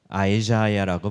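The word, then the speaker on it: Isaiah: 영어로는 어떻게 발음할까요? 아이자야라고 발음해요. 히브리어는 이샤야후예요.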